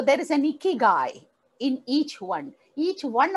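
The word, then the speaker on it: 生き甲斐: Japanese language there is a word called इिकगाई इकी गाय आई के आई जी ए I that's a spelling इकी गाय इगाय actually means value of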